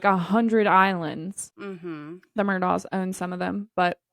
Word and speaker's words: Murdaugh: is not the way it's supposed to be pronounced. Correct. They do say Murdoch though.